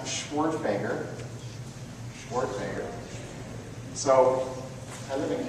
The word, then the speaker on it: Schwerdtfeger: who might be curious my last name is pronounced schwartzbager schwartzmaker so i live in california so i